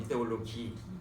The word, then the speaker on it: 이데올로기: 운동에서 맨날 이데올로기가 어떻구데 그 이제 발음이 좀 독일어로 된 거예요 이데올로기 예 그리고 이념 근데